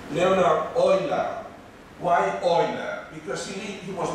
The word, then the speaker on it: Euler: So he was a great mathematician, and even a greater mathematician in some regards was I am using the German pronunciation, I hope nobody minds, Leonhard Euler.